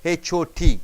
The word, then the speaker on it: hot: is burst Open Tom when you hold a t as a hot suppose h o t the word is there how do you pronounce hot a doesn't come out T is held there up in the tongue hot bot CAU you don't push the air outside your tongue is in